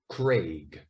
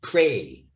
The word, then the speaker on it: Craig: Or my name, this one's very difficult for Spanish speakers especially, Craig. Now they very often here say Cray, and they leave off this last consonant, especially in Andalusia, in